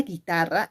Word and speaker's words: guitarra: Pero cuando tú pronuncias la palabra guitarra, en ningún momento suena esa U. Esa U no suena.